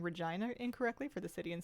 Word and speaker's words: Regina: It is Regina. Yeah, it sounds vaguely similar to a different word. Pronounced it Regina. Like Regina Phalange.